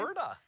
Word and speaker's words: Elverda: Dave, you were in Wasilla over the weekend and attended the 100-year-old birthday bash of Tell me, how do you pronounce it? Elverda.